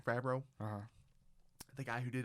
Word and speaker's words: Favreau: Favreau. Favreau.